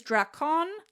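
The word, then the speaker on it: δράκων: The ancient Greek word is drakon, like with a K, but otherwise spelled the same.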